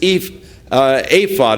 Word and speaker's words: ephod: And it could be that Gideon's purpose in this ephod is how it's actually pronounced, that the purpose in the ephod was to ascertain God's will.